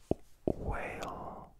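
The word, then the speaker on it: Weyl: one I'm pronouncing correctly w-e-y-l whale whale curvature hypothesis big conjecture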